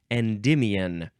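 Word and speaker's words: Endymion: from 1655 the synonym is endways next is emian capital e n d y m i o n emian noun from fifth 1567 this is a beautiful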